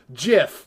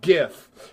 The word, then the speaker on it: GIF: know proper English and it's pronounced jiff not gif okay now that is